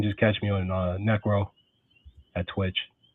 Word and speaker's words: Nyeckro: know what you know people people say it one way or the other you know but the you know but the Y is silent. So what is the lore behind Necro?